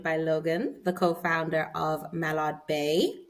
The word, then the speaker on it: Mallard Bay: Logan the co-founder of Malad Bay I did pronounce that right right Malad Bay yes okay great I didn't know if it was mayard because sometimes the Double L is a y a little conf okay